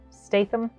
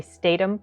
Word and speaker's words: Statham: sometimes um jason statham statham that's the right way to say his name statham sometimes i keep one to say statum but i think it's statham sometimes he doesn't talk